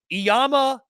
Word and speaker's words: Iamaleava: Nico Iamaleava. I'm proud of myself for pronouncing that, I think, correctly.